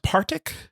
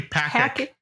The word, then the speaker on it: Patrick: I believe it's pronounced Partic. Yeah, you got it. Yeah. Partic. It's actually Patrick.